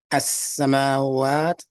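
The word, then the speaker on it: السماوات: As-samawat. The actual word that means skies in Arabic is as-samawat. You see the difference? As-samawat. No emphasis on the ma part.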